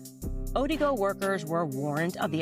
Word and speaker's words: Odigo: There was an instant messaging service that was called Odigo.